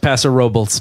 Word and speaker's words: Paso Robles: The town is pronounced Paso Robles.